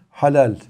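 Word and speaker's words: حلال: helal E helal haram Türkçede kullanıyoruz ama Türkçede çok nazik kullanıyoruz He harfiyle telaffuz ediyoruz Arapçada ha harfiyle daha kalın telaffuz edilir halal Eee ve ehle helal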